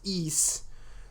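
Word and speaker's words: Ys: Googled it um it's uh it's PR it's pronounced e and it is um it is uh it's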